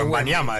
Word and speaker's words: Wembanyama: Lo que hizo Víctor Wembanyama, porque él se encarga de ponerle el acento a la última, es Wembanyama, la pronunciación que le da el propio Wembanyama decimos.